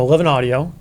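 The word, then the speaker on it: XI Audio: yeah that house seriously yeah we could pop a little primer in there so 11 audio happens to be uh the brainchild as it's spelled x i audio yeah yeah but it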